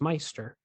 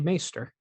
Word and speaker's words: maester: of the small Council the steward mispronounces maester as Meister the correct pronunciation is actually maester this was a reportedly